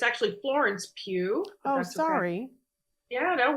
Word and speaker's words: Pugh: Sorry, I'm terrible about pronunciations. Timothy Chalamet, Zendaya, Austin Butler, and it's actually Florence Pugh.